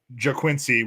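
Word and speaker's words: Ga'Quincy: No, it's I'm pretty sure it's pronounced JaQuincy, which is G-A'' So either way, he's an all-name team candidate.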